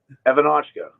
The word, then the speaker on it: Evanochko: Evanochko. Yeah, I would have never gotten that. It's actually, if you look at it, it's phonetically just like it's spelled.